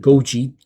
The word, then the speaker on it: Goji: Using this, which is I think it's pronounced Goji, G-O-J-I.